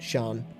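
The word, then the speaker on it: Siân: Sh does exist, but um, SI is also also is often pronounced as sh like in the name Shauned or in the name uh, Shan. It's S I A N. Shan.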